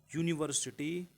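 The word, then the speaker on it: university: इसका जो प्रोनाउंसिएशन होगा यह से होगा, और यह एक व्यंजन है, व्यंजन के पहले ए का प्रयोग करते हैं ना कि एन का।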